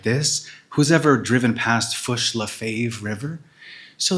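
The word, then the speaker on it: Fourche La Fave: Who's ever driven past Fushlave River? So the key sometimes is to pronounce these words like this man who uh after whom it's named would have pronounced it.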